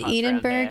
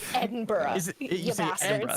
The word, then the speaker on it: Edinburgh: You know, from London to Edenburg is 7.5 hours. Wow. Edenburg. Whatever, bro. Sorry, I can't let that. I'm American. I pronounce my letters. Fine. Edinburgh. Edin. Edinburgh. Edinburgh. Just Yeah. Just say BR.